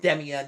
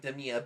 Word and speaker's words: Demea: I know it's pronounced Demea, not Demea, but I mean, that is a funny flip there from Salem, so fair play.